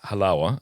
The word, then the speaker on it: Halawa: You could pronounce my name Halawa. I know it sounds like Malawach, and it sounds some other stuff, but let me just help you remember it forever. Halawa is chalva.